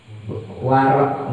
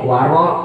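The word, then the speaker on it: wara': Waraknya mbak pamal mbak warak bacanya warok jangan warak.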